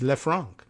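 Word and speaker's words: Le Franc: Lou LEF Fran so we try and give it some sort of French pronunciation here and by the way you know it's not a joke he's he's lefran well that makes some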